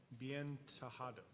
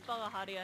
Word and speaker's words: Badia: her is uh biado I hope I pronounced that correctly um the last name is badia if you're curious um hi my name